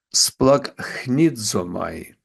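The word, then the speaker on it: σπλαγχνίζομαι: він змилосердився над ними слово змилосердився на давногрецькій мові сплак хнідзомай так воно читається трохи нагадує українське слово сплакнути і воно воно означає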